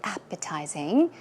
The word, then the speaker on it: appetizing: certain dish is very appetizing or savory now it means that it looks or tastes very very tasty now the pronunciation is appetizing the stress goes on the first syllable one more time outfit